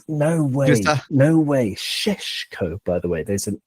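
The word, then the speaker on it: Šeško: In his name have little V's on top, turning into an SH sound. So Sheshko. It's actually quite hard to pronounce, but he's rubbish.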